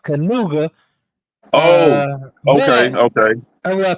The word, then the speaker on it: Knigga: actually pronounced Canuga.